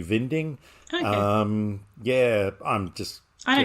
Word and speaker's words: Winding: Being that he's Danish, that middle word would be Vinding.